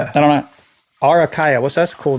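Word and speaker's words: Araucaria: Arakaria. I don't know. Arakaya.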